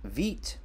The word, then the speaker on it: Vite: I am talking about Veet it is spelled v-i-t-e but it is pronounced v-e-e-t so what is Veet